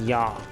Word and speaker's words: já: So, for example, they say "já," which means yes, in modern Icelandic, but in Old Norse it's pronounced "ja."